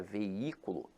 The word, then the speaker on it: veículo: Agora, a palavra veículo, apesar de ter hiato, veja que a sílaba tônica se encontra na antepenúltima sílaba. Então aqui ela é acentuada pela regra da proparoxítona.